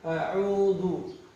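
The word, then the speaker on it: أَعُوذُ: A'u, kemudian ada ain. A'udzu. Zu. Za ringan bacanya. Zu. Dan jangan sampai bunyi desis. Zu salah. Ya. Zu. Hilangkan bunyi desis.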